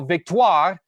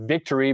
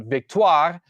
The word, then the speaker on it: Victoire: The Minnesota Frost and the Montreal Victoire, that's how you say it, not victory, but Victoire, are playing in Ball Arena in Denver in January in their second season of the PWHL.